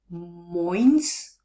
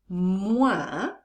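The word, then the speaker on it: moins: five to seven so just watch not to pronounce the s it's not moines but so once again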